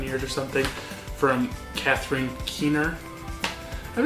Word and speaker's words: Catherine Keener: Catherine Keener, I think is how you say her name, also in an episode of Seinfeld, so gotta love her.